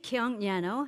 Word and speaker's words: Kyung Yano: age let me introduce myself my name is Kong Yano actually he pronounced Ed really perfectly uh I published seven